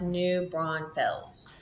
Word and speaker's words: New Braunfels: It's pronounced New Braunfels.